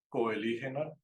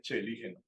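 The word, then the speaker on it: Coeligena: común que yo cometía, yo al principio decía coelígena, ¿sí? Después alguien me dijo que no se decía coelígena, sino que se decía celígena. Y hoy en día, con lo que hemos aprendido con el profesor Bayer, sé que se dice chelígena.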